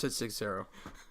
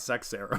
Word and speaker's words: Seixeiro: Well, I mean, Or is it 6-0? It's 6-0. Like 6, like the number 6. Not Seixeiro. No. I mean, it's spelt that way, but he pronounces it different.